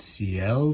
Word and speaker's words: Siel: I'm going to pronounce it Siel because it's from Italy, and its power supply.